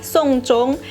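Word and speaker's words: 送钟: istilah memberikan jam dalam bahasa Mandarin dibaca menjadi sungkung persis dengan pelafalan Sung yang artinya upacara terakhir Untuk mengantarkan jenazah sebetulnya jam yang dimaksud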